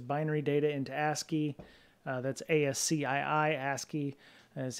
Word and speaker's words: ASCII: That's ASCII. ASCII is how I pronounce it.